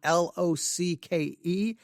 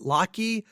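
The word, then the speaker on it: Locke: his name is spelled l o c ke I pronounced it Loy um I was wrong um it was pronounced lock so thank you very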